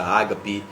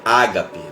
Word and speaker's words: Ágape: Unção Ágape Igreja Batista Ágape né e sabão e passou que chegou depois aí no original mesmo a palavra não é Ágape mas é Ágape Essa é a pronúncia correta acentuação tá no lugar Ágape que a gente